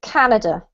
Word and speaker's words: Canada: english this is well the word has the emphasis on the first syllable so it's canada know yeah and then